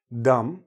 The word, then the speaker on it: dumb: T plumber no B Dum no B these words are not